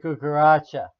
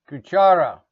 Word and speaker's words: cuchara: Cuchara is spoon. Cuchara. Don't confuse it with cucaracha. Cucaracha is an insect. Gringos always say cucaracha. That's not right. Cuchara.